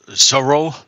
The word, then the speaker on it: Zorro: Like we pronounce it very differently. Like for example, sorrow, the character we call Sorro, or Z. Yeah. Well, over here, Zorro is a hero with a sword. Yeah, that same one, but we call him Sorro. It's pronounced very differently.